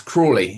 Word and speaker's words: Crawley: joining us today morning it's cwy is how we pronounce it Cy no but